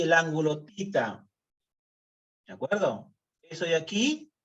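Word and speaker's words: theta: Se pronuncia tita, no teta. Tita. Algunos dicen teta, no. Teta es lo que nosotros tomábamos cuando estábamos recién nacidos. Ahora no, esto se llama tita.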